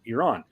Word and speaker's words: Iran: Iran.